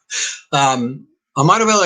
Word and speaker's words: Ahmadu Bello: Dan didn't quite pronounce it correctly, but it's okay. Ahmadu Bello University is the largest university in Nigeria and one of the largest in Africa.